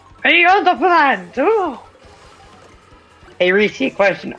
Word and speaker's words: Pianta: But the funny thing is, PIANTA means plant in Italian, so I technically said plant. But it rhymes with piranha plant, so PIANTA plant. PIANTA plant!